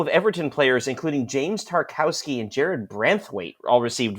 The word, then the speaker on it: Tarkowski: But I mean, I will say, from an Everton fan's perspective, Tarkowski, I think is his name, Tarkowski, yeah. I think they're pronouncing the W as a V.